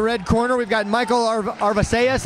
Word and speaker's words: Arvisaiz: Coming down out of the red corner, we've got Michael Arvisaiz, I believe is how you pronounce the last name, Arvisaiz.